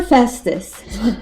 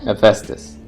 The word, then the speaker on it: Hephaestus: Poor Festus. Hephaestus.